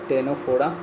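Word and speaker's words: Ctenophora: निडरिया हो गया टेनोफोडा। इसका भी सी होगा साइलेंट। टेनोफोडा और इकाइनोडर्माटा।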